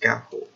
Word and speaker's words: Ga'Hoole: be pronounced gone whole day but no as pronounced Ga'Hoole so this series is about 15 books long